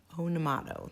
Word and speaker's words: Onamato: it's I'm not I don't know if I'm pronouncing this right oh na oh na ma oh oh na ma ona motto una motto that's what it is and it's a fun